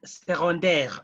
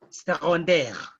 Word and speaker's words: secondaire: When we are reading the noun secondary, en français, we read it like secondaire. That C is normally pronounced like G, secondaire.